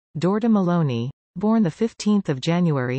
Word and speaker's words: Giorgia Meloni: Georgia Maloney Italian pronunciation dorda Maloney born the 15th of